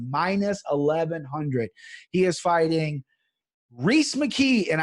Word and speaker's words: Reese: He is fighting Reese McKee, and I know it's Reese and not Rise.